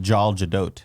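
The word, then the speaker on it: Gal Gadot: I've heard it's I heard it's pronounced Jal Jadot.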